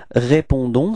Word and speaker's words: répondons: Repeat, nous répondons, so as usual, final S is not pronounced, okay? So the only thing that is pronounced at the end, it's this O-N and it's on, okay?